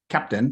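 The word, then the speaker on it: Keptn: here um and here's the website and it's pronounced captain k-e-p-e-t-n so this is something that dynatrace has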